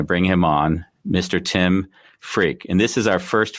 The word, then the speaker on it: Freke: I correct that no my name really is pronounced freak yeah uh philosopher I